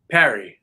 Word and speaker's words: Pari: Is it Pari or Parry? Parry. Yeah, that one's good.